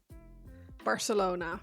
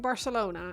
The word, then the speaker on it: Barcelona: Because, for example, something like Barcelona, right? It's one of those things where if you're not Spanish, saying Barcelona is absolutely fine. But you then get these really obnoxious people who go, actually, it's Barcelona.